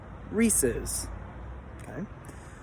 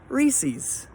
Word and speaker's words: Reese's: give a cultural one for some people that candy is pronounced like the man's name Reese's for other people like yours truly I say Reese's and I said it just like that because for a lot